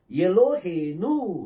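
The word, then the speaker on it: אלהינו: அப்ப அது உ அப்ப உவையும் நூனையும் சேர்த்தீங்கன்னா என்ன உச்சரிப்பு வரும் நு எலோ ஹே நனு எலோஹேனு அப்படின்னு சொல்லி வரும் எலோஹேனு ஓகே ரெண்டையும் மூணையும் சேர்த்தீங்கன்னா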